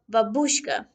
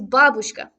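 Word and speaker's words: бабушка: you say this correctly nearly every American that has try to say this to me has said about babushka which is wrong the correct way is bublochka with the stress on the first syllable if it helps physically move your body on the first syllable and then kind of release the tension on the other two I'm also asked if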